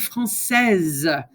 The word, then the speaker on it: française: And elle est française. Now you hear when you add the E on the end, you pronounce the last letter right before it.